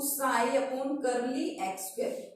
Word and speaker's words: psi: क्या बोलते हैं, इसको साई बोलते हैं। This is known as साई। पी यहाँ पे क्या होता है, साइलेंट होता है।